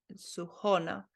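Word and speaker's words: Сухона: Okay, the emphasis on the O, Suhona.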